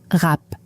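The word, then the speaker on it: wrap: Le W dans rap est silencieux, donc ça se prononce rap.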